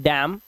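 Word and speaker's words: damn: जैसे यहां पर एम के बाद एन आया तो इसे पढ़ते हैं डैम N silent हाईम एनसाइलेंट column N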